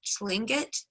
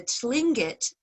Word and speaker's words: Tlingit: many of them qualify under the name of slangit and yes i can spell that because it's r-t-l-i-n-g-i-t uh the tlingit follow raven and yes raven is coca a